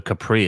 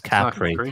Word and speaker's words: Capri: then sento and then Capri oh you figured out how to pronounce it like a local huh it's not it's no longer Capri it's Capri it's Capri capr okay I didn't know